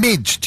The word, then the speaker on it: Mige: And I've got Ville Valo and Mige. Is that how you say it, Mige?